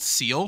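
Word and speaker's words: Seel: Fun fact, they're called seal still, but it's spelt with S-E-A-L versus S-E-E-L, which is not helpful.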